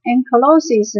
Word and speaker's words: ankylosis: 接下来呢下一个例子 ,ankylosis,A-N-K-Y-L-O-S-I-S, ankylosis 呢指的是那个脊椎